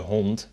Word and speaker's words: hond: As you notice, the D's at the end of words are kind of pronounced like T's. So in this case, de hond, the D sound is more like a T instead.